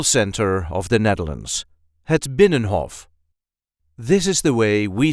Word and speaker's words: Binnenhof: way we say had binnenhof benhoff so there isn't really any emphasis here try to pronounce it without it benhoff and a lot of Dutch people do not pronounce the third n so it will sound